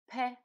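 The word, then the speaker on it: п: is what looks like letter p' a sound like the first sound in the word park in english and here's how we write this letter let her pay sound this is what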